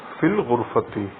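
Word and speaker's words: في الغرفة: changes to al-ghurfati, and together we pronounce it as fil ghurfati.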